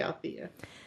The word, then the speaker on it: Althea: There is an extra syllable in there, but Yeah. I would say Althea.